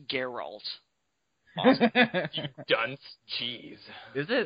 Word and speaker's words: Geralt: And it's Geralt. Awesome. You dunce. Jeez. Is it? That's how they pronounce it in the voice acting sometimes.